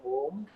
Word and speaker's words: Om: Chant Om as Uma in 3 syllables.